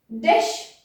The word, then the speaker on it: jde: the Czech language, that when we have a J followed by a consonant at the beginning, we usually don't pronounce that J. It's not necessary and not common. Já jdu. So all of them would be pronounced without J.